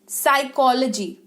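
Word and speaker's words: psychology: 10थ number spelling rule अगर कोई शब्द पी से शुरू हो रहा हो और उसके तुरंत बाद सी तो भी पी का उच्चारण नहीं करते जैसे की पडो पीएसईउदो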